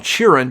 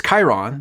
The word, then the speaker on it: Chiron: the actor playing who I always called cheran but apparently it's Chiron I always always been saying that name wrong and uh what else